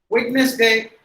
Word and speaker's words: Wednesday: Wednesday. Actually, with the D silent, the highlighted letters are silent. In the yes, is pronounced like the Z.